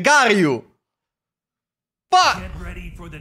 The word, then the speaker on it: Garyu: È Garyu o Gyaru? Gyaru è quella giapponese. Garyu.